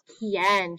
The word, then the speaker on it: quién: So QUI, it sounds like the word key in English, key, okay? A word we know with QUI is quién.